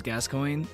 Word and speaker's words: Gascogne: And pronunciation is Gascogne.